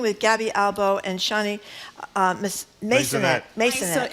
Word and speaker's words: Maisonet: We've been speaking with Gaby Albo and Chani Maisonet.